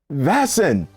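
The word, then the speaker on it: Väsen: This actually, you pronounce Vasen. That is how the Swedes pronounce it. Unless, of course, you want to just go ghetto American and just keep saying Vasen.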